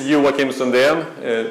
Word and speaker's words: Joakim Sundén: other things as well uh my name is you will kim sondheim did a fairly good good job of pronouncing it as i mentioned i'm from sweden